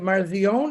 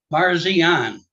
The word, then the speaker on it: Parsian: going to say your last name is that marzion is that I pronounce it or I'm going to say it wrong so you just correct me please sir Parsian I was close yeah you were yeah